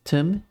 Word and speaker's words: tum: So yeah, the Swedish word for thumb is just tum. Ignore the th sound and ignoring the b sound at the end. It's just tum is, yeah.